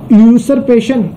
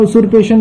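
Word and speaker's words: usurpation: यूसरपेशन, उसूरपेशन का मतलब होता है, उसूरपेशन मींस यूसरपेशन, कुछ भी बोल सकते हैं आप, ठीक है, प्रोनाउंसिएशन में थोड़ी दिक्कत हो सकती है।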